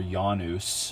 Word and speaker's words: Janus: but specifically roman gods janus or janus actually is how that would be pronounced was a god with